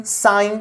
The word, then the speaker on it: sign: इससे आपको word pronunciation में बहुत ही ज्यादा इंप्रूवमेंट मिलेगा गाइस, कि कैसे किस वर्ड का कब हमें प्रोनाउंसिएशन करना है। तो यहां पे डिजाइन, डिजाइन, साइन, जी है, तो जी के जस्ट बाद एंड रहे तो जी हमें साइलेंट कर देना है गाइस।